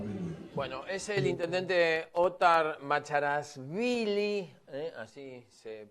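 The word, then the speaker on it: Othar Macharashvili: Bueno, es el intendente Ottar Macharasvili, eh, así se pronuncia, medio difícil, medio difícil.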